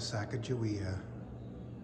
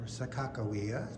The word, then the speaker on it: Sacagawea: member of the expedition we have a model of Sacagawea or Sakakawea depending on your pronunciation going to be seeing